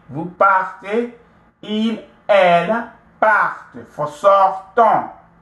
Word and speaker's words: partez: So nous partons, vous partez, the EZ, right? It's always pronounced A. Vous partez, il, elle partent.